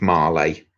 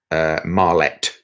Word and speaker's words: Marlet: Yeah, assist for Stolzers was Steve Marley. Marlette is how you pronounce it.